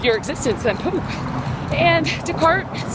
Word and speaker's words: Descartes: When Descartes, actually it's pronounced Descartes, when he came onto